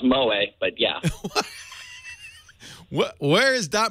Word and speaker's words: moe: OE o yeah that Mo it's pronounced Mo but yeah where is that Mo it's basically